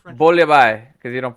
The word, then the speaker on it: bouillabaisse: bouillabaisse because you don't pronounce the S.